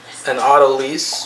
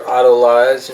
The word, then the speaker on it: Autolyse: Alright, so first I'm going to do an Autolyse or Autolyze. You might hear different pronunciations. I believe it's correctly Autolyse.